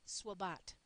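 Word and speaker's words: SWBAT: objective is stated as students will be able to often pronounced SWAT it's important here that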